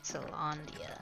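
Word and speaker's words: Caelondia: Candia, that's how you pronounce it.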